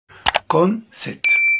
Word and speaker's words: concert: طبعا يا مستر ليه ما نطلعش الار؟ عشان في البريتش، في الامريكان بينطقوها عادي، لكن في البريتش لو الار جت بعد حرف متحرك ما بنطقهاش، وبطول في نطق الفاول الحرف المتحرك.